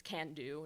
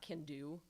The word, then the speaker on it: can-do: My only thing is that can-do starts with, like it's that thing where it's like the first syllable is the strong one. So it's can-do, not can-do.